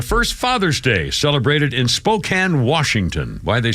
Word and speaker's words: Spokane: Uh 1910, the first Father's Day celebrated in Spokane, Washington. Why they pronounce it Spokane, I don't know.